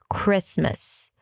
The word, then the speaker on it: Christmas: Chris, and then it's an M, a schwa, and an S. Christmas, Christmas, Merry Christmas, Merry Christmas.